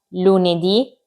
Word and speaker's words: lunedì: I giorni della settimana sono lunedì, martedì, mercoledì, giovedì, venerdì, sabato, domenica. I primi cinque hanno l'accento sulla i finale, sono tutti maschili, tranne la domenica e si scrivono tutti con la lettera minuscola.